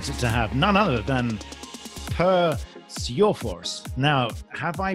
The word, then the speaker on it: Per Sjöfors: Well, if you would do it in Swedish, it would be Per Sjöfors.